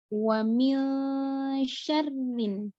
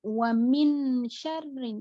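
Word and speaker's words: وَمِن شَرِّ: Jadi ini contoh di bawah, wa mil syarrin. Bukan wa min syarrin, itu salah. Itu jelas. Kalau jelas itu hurufnya izhar. Kalau ini hurufnya ikhfa, nun sukun setelahnya huruf shin,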